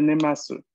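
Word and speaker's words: 寝ます: Sería nemasu, la escritura en groma y nemas, la pronunciación claramente, ¿no?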